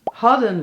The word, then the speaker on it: hadden: Gisteren hadden we een vervelende bestelling en morgen heb ik 7 vervelende bestellingen. Oké, per woord. Gisteren, klemtoon, teren, 2 keer e. Hadden. Dus ha heeft klemtoon. Den, geen klemtoon.